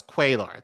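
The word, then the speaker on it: Cuellar: oppose among guns uh no it's quailar there we go also proposed and continues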